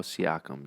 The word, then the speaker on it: Siakam: While simultaneously, you can make the case that Siao, how you pronounce his last name? Pascal Siakam.